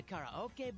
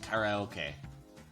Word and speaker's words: karaoke: Okay, I have never once heard it pronounced karaoke. It's karaoke. You don't pronounce it with the accent or whatever.